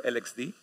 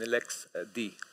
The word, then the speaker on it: LXD: these letters these acronyms one way to pronounce them is to say Aleksey or lxd however the official documentation of of the project says at the very beginning that we pronounce them Lexi and LexA T for my